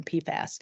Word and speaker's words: PFAS: Janet Hamilton, is giving a whole hour on PFAS.